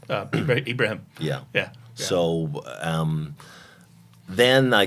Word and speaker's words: Ibrahim: Ibrahim, it's not Abraham as I Right. always got in school. Yes. And That would be Ibrahim. That would be from the Muslim. yeah, that's correct. Ibrahim.